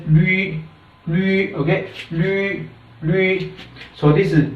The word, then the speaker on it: 绿: type of pinyin, so you cannot pronounce it like Lu. Okay, so it should be rightly pronounced as Lü.